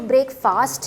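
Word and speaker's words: breakfast: आप ये जो वर्ड है ब्रेकफास्ट, उसको ब्रेकफास्ट नहीं बोलेंगे। ये जो ब्रेक के साथ जब ब्रेकफास्ट वर्ड आता है तो वो फास्ट नहीं, फर्स्ट। अब देखिए मैं कैसे प्रोनाउंस कर रही हूँ, ब्रेकफास्ट, ब्रेकफास्ट। क्या आपने ब्रेकफास्ट किया है? फास्ट नहीं कहना, ब्रेकफास्ट किया है, that is नॉट a correct pronunciation. जब ये दोनों वर्ड्स एक साथ बोलते हैं तो हम बोलते हैं ब्रेकफास्ट।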